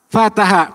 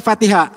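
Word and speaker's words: فَتَحَ: Bacanya apa? Fataha. Kenapa enggak Fatihah? Dari kamusnya begitu.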